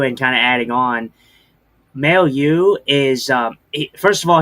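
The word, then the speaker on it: Mailloux: If am I saying that it's May Ma maleu. Male U. Like male and then you.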